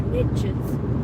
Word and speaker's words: niche: Because yeah, then he can make it rhyme, and he says the riches are in the niches. I say niche, but it doesn't rhyme with rich.